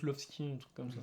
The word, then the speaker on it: Lvovsky: D'ailleurs, c'est Lvovsky. Lvovsky. Ouais, mais je crois qu'on prononce Lovski, un truc comme ça. Lvovsky.